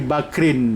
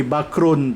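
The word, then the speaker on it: بكرٍ: Mbak rodtube bakrin Cup tidak boleh membacanya Maro to be bachrun tak boleh karena ada huruf ba dia mesti bacanya marortu be bakrin deh kalau digundul karena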